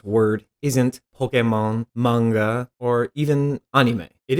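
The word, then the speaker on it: Pokémon: mark over the E most anyone I've ever heard speak about Pokemon says Pokemon why is that it clearly comes from the word pocket and I don't say pokit furthering this point let's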